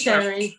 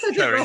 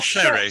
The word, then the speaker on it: Cherry: I keep pronouncing her wrong. It's Sherry. But you Sherry. wouldn't know. Sherry, not Cherry, Sherry. Sherry like the drink.